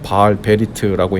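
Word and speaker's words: בעל ברית: 바알브릿 이라는 말은 히브리어로는 바알 베리트라고 읽는데요.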